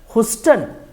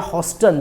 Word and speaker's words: Houston: ह्यूस्टन या हॉस्टन जो भी आप बोल सकते हैं, ठीक है, स्पेलिंग देख सकते हैं HOUSTON, हॉस्टन।